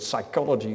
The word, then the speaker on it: psychology: for instance the word psychology in England in English is not pronounced with a p in ini initial position because the PS combination is not spoken in English and if you write